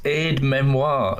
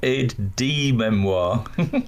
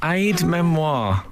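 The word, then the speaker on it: aide-mémoire: tried to tell you it's Aid Memoir not Aid D Memoir oh Aid Memoir I'm going to write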